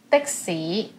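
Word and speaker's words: 的士: hour so be careful dixie dixie is taxi it sounds similar it's actually a long word from english taxi dixie wait dixie that's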